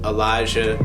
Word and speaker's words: Alijah: Oh, also follow me on Instagram at Elijah. Yeah, spelled with an A.